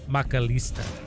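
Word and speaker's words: Mac Allister: So one of the Argentinian players, his name is McAllister, but they say it Macalista. Macalista. So if you said Macalista in your video, everybody would correct you. It's McAllister.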